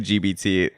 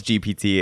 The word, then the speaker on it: GPT: it's chat GPT GPT what did I say was I saying it wrong everyone was saying gbt we know it's GPT it's just whatever it's